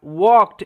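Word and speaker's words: walked: দেখুন, the king রাজা ওয়াকড, এখানে তো এল silent, okay, R ডাব্লিউ এ একত্রে ওয়াক এরকম একটা সাউন্ড দেয়, ওয়াকড হাঁটা, প্রাউডলি মানে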